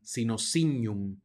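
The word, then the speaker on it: signum: veces salvo algunas excepciones cuando encontramos una G seguida de una n se pronuncia como ñ en español ñ de Ñoño de manera que esta palabra se pronuncia sino vamos a pasar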